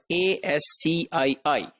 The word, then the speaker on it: ASCII: interchange that is called a SC III and that is pronounced as ASCII so that Oski had seven bits for